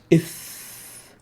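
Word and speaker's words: ث: So the tha is pronounced as ith, as in ethnic and think, ith.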